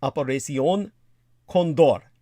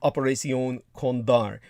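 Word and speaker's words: Operación Cóndor: And by the way, in the Espanol, it would properly be pronounced something like Operación Condor or Condar. So Operación Condar, just to put that into some perspective.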